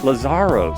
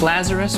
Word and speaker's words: Lazaros: Oh, I didn't ask him how to pronounce exactly how to pronounce his last name. Lazaros. How did How did I do there? Uh, it's Lazarus, but do not do not worry.